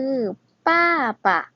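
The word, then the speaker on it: 爸爸: คะ เขา ว่า พ่อ ใน ภาษา จีน คือ ป้า ป่ะ คุณ ป้า ปะ แปล ว่า คุณ พ่อ นั่น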